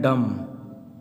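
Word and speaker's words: dumb: यहाँ लिखे हैं डम। यहाँ देखिए यम के बाद बी दिया है तो बी का उच्चारण क्या हो गया, साइलेंट यानी गूंगा होता है, डम मीन्स।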